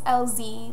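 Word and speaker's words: Elzey: My last name is LZ, like the two letters LZ, but it's spelled E-L-Z-E-Y.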